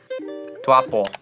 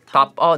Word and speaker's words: Taupo: Tuapo. No. Taupo. Taupo. Taupo? Taupo. I'm going tapo. I'm just going tapo. Taupo? Taupo. He like emphasized it when he. Can we hear that one more time? Taupo.